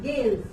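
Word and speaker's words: gales: उसके बाद गेल्स, इसको पढ़ते हैं गेल्स। यहाँ जी जो है जेल्स नहीं पढ़ेंगे, इसको गे की साउंड आती है।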